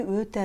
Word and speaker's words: өте: Анау үй өте әдемі. Анау үй өте әдемі. В слове өте «ө» опускается, сразу произносится звук «ә».